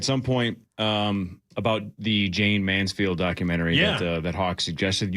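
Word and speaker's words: Jayne Mansfield: Jane's Manfield.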